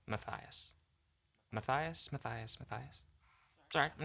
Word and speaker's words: Matthias: Hi, Matas. I was wondering if you can help me understand if for all who are wondering, my name is pronounced Matias.